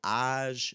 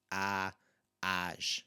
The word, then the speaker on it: às: So às 2 horas, and you can hear there again, it's an open sound, às 2 horas.